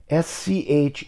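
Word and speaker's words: Szolc: which is spelled schultz s-c-h-u-l-t-z actually originally was a polish named spelled s-z-o-l-c also pronounced schultz but the magic of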